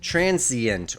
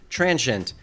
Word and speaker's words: transient: Despite the popularity of these three syllable variants, I recommend transient with 2 syllables because it is the traditional American pronunciation and the one listed first in all major current American dictionaries.